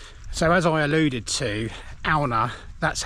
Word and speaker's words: Aune: So, as I alluded to, AA, that's how you pronounce it. I think I said in one of my early videos that it's pronounced Aun or A, but it has a Nordic translation.